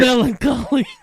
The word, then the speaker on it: melancholy: Melancholy. MELA collie. Is it just COLLY? no, it's MELANCHOLY. Oh, there's a silent H in there.